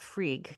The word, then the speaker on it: Frigg: Is it Frig or Frigg? you can just call it Frig. Frig's fine.